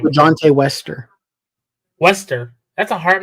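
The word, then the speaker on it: LaJohntay Wester: LeJohntay Wester.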